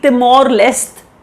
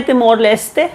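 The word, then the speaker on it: Timor-Leste: तरीके से प्रोनाउंस करिए इंग्लिश में जनरली तिमोर लेस्ट लेस्ट बोला जाता है आप तिमोर लेस्ट अगर आप घुसना चाहे उनके अपने प्रोनंसिएशन में कंट्री का नाम है तिमोर लेते हम कह रहे हैं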